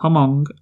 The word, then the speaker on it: Hmong: the Los Angeles Times in the 1970s about Hmong refugees, that's how you pronounce it for sure, who, after fleeing to